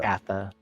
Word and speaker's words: Catha: Somebody wants to give me the pronunciation. Catha. Gatha.